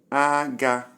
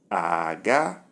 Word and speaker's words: aga: Number 1, high, high, and the sound is aga, needle. Aga, needle. Number 2, we have low, high, and the sound is aga, aga is going.